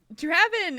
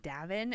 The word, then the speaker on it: Draven: So Draven actually, I mean, when we answered his question, I was calling him Davin, and so he gently let me know that it was not the right thing for pronunciation.